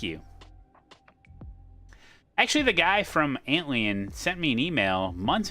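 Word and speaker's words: Antlion: don't have a mixer now I say antan I don't say no no no neemod you you can't tell me how to say it no I have an Anton mod mic I'm not going to say ant lion that sounds so stupid ant lion an Anton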